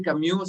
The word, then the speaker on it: Camus: Sabemos que se dice Camus, sabemos que en francés se debe pronunciar así, pero la verdad es que no nos importa y vamos a decir Camus.